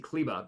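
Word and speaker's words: Kleber: kber being out CBA I keep saying cber because that's how it's spelled Maxi kba being out is a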